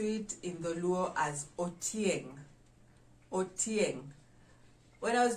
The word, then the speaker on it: otieng: story but the word for a spider is otieng or tieng how do we spell it o t i e n g o